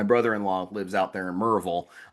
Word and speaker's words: Maryville: My brother-in-law lives out there in Murreville, which is the correct way to pronounce that. It's not Maryville, apparently, when you go out there.